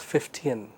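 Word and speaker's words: Fichtean: c h t e a n but the pronunciation is 15 so the main advantage of the 15 curve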